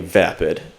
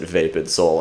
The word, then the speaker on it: VapidSoul: of said words but at least you guys pronounced it right being vapid because people have pronounced it vapid before and yeah pretty much any sort of other pronunciation I've heard like even the guy that announced us last night in Harvard he pronounced it vape and soul and like he's the